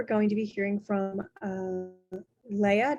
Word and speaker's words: Leigha: So today we're going to be hearing from Leigha. Did I say it right, Leigha? I'm usually Princess Leah is Yeah. good. Okay. Princess Leah.